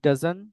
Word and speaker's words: doesn't: এরকম উচ্চারণ করতে পারেন যে হি ডাজন, হি ডাজন নো, he doesn't go। ঠিক আছে, আমরা টি টাকে উচ্চারণ কম করব।